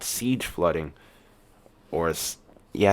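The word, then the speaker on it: seiche: uh what was called Siege flooding or yeah I think it's pronounced as Siege uh it's spelled s-e-i-c-h-e but um a lot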